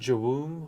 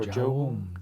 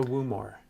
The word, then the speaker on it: Jawum: It's pronounced Jawoom or Jawum. Jawum. Yeah, it's not a Woomor.